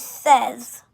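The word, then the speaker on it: seize: it's catchy ken's and 16 is says so you would be like ken says like no one wants to hear what ken says no one does so says is 16 and it's spelt s e i z e and 17 in french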